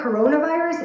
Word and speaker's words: coronavirus: And I remember asking my producer, coronavirus? Like, you say it like that, coronavirus, in my ear. She's like, yeah, that's how you say it. I'm like, Corona like the beer?